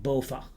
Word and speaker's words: BOVAG: And because of the fact that this is a Dutch acronym, I will pronounce it also in Dutch and I will refer to it as being BOVAG.